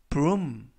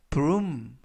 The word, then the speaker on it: broom: 이번 표현은 broom, broom, broom 이라고 발음하시면 되겠고요. 이때 알파벳 OO 두 개가 이중 모음으로써 우 발음이 납니다. 그래서 broom 이라고 발음하시면 되겠고요.